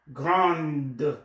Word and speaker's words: grande: you don't need ad if we become feminine then the D is pronounced so Chrome grond grond Amazon Amazon to grow grande Richie petit America I'm